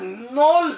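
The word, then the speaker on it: knol-khol: ये कहलाता है, प्रोनाउंस होता है नोल नोल, हाँ के साइलेंट रहेगा, नोल नोल।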